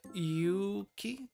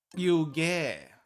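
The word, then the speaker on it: 湯気: Yuki or Yugi. This is Yugi. Did I type that wrong? Yuge. It got rendaku'd into ge, from ki to ge.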